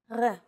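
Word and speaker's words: ר: that's a little different focus on this first letter it's often written as an R but don't be fooled this letter is pronounced differently than an English R it's pronounced at the back of the throat instead of forward in the mouth listen to Edith say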